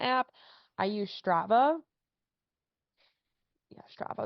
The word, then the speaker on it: Strava: I use Strava yeah Strava is how you pronounce it I think uh the Strava